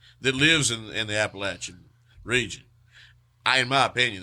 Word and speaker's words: Appalachia: you how do you how do you pronounce Appalachia Appalachia okay okay because there's no other way there is no plenty of people that are not from around here for some reason say appalation I it drives my ears crazy I